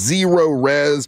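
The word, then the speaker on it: ZeroRez: Zero Res.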